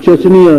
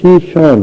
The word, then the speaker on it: شیشان: اسی طرح ایک ریاست تھی اسلامی شیشان، جسے وہ چچنیاں لکھتے پڑھتے ہیں انگریزی میں. چچنیا اس کا اصل تلفظ نہیں ہے، اصل تلفظ شیشان ہے۔ اسلامی ریاست تھی کسی